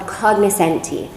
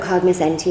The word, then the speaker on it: cognoscenti: But really, in Italy, it's an Italian word, it would be cognoscenti, or is that right?